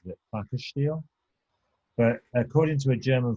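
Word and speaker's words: Plakatstil: i've heard pronounce it in america pronounced it pakisteel but according to a german friend of mine it's pronounced placard steel so it's uh but it but basically it's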